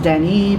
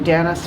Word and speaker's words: Danis: And so technically my name should be pronounced Dani, but I've been going under Danis forever because if a person is English speaking, you say Dani, they'll spell it incorrectly.